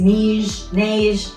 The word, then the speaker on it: neige: So I've heard it pronounced a bunch of different ways, neige. My daughter speaks French. She says it's neige, so I'm going with that.